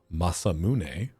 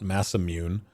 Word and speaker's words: Masamune: Now, granted, I will hold fast to the idea that it's pronounced Masamune. and not massimmune because you know that's a real word in Japanese.